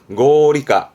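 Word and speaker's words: 合理化: 발음은 고리까, 고리까.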